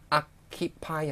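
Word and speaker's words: อัคคีภัย: 아키파이 하시면 돼요. 아키파이 하시면. 이거 읽으실 때요 부분이 악하고 카키하고 발음이 연음이 될것 같지만 그렇게 읽으시면 안 되고요. 아키 읽으셔야 돼요.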